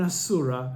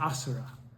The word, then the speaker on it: asura: conform to rules, because I'm an asura, not an asura, an asura, okay? And that's the correct pronunciation.